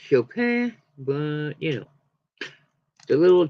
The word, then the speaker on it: Chopin: It's actually pronounced Chopin, but you know.